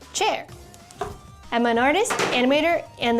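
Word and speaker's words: Qier: Hi, I'm Cher Wang, spelled Q I E R, pronounced chair.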